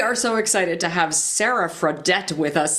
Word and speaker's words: Sara Fradette: so excited to have Sarah fredet with us Sarah am I saying that right I feel like I'm going to put you your name no you're saying it correctly thanks excellent and you're